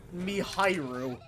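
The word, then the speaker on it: ミハイル: So, it's not pronounced Michael according to the katakana here. It's Mihairu. So it's Michael?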